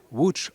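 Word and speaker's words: Łódź: Ça s'écrit Lots mais ça se prononce WCH en polonais.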